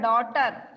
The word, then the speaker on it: daughter: Doctor അല്ലടാ, ഡോട്ടർ. DAUGHTER, ഡോട്ടർ, മകൾ. ഡോക്ടറോ? അത് ഡോക്ടർ. DOCTOR, doctor. നമ്മളെ പരിശോധിക്കുന്ന ആള്. ഈ ഡോട്ടർ DAUGHTER, ഡോട്ടർ, മകൾ. രണ്ടും വ്യത്യാസമുണ്ട്. ഉച്ചാരണം വരുമ്പോ ഡോക്ടർ എന്ന് നമ്മള് സാധാ ഡോക്ടർ പറയുന്നു. മകൾക്ക് അങ്ങനെ എന്തോ ഒരു വ്യത്യാസം. ഡോട്ടർ. അവിടെ സി വരില്ല, സി പ്രൊണൗൺസിയേഷൻ വരില്ല, സി ഇല്ല അതിനകത്ത്. മറ്റേത് ഡോക്ടർ, ഒരു എന്നുള്ള ഒരു പ്രൊണൗൺസിയേഷൻ ഡോക്ടറിന് വരും.